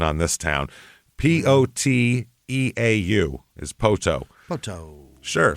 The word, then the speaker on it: Poteau: And, man, it was an interesting one trying to find the pronunciation on this town. Poteau is Poteau.